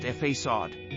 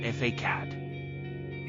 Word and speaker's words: façade: Pronounced façade, not facade.